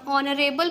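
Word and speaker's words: honour: और यहाँ पर क्या है, ऑनरेबल पर्सन, मतलब जो एच क्या है, साइलेंट होता है, जो भी ऑनर, ऑनरेबल ये सब होगा, तो उसका जो आ से स्टार्ट हो रहा है वो क्या हो जाएगा, स्वर।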